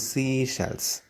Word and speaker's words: Seychelles: And the seashells, that is pronounced as seashells.